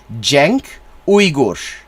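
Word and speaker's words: Cenk Uygur: a Turkish name that c in Turkish is pronounced like a j jenk oigor foreign so that's what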